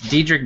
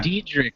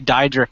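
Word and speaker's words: Diedrich: gonna say that name it's dedri Bader yeah dedri I wanted to say diick and I'm like I know that's not how you say it deder he was also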